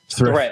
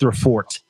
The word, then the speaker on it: Thre4t: So this was still Stockton by Threat, but that's not how it's pronounced. It's pronounced Threfort.